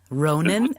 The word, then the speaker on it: Ronan: So I know that you are a brand new dad, Ronan. Is that how you say his name? Yes, ma'am.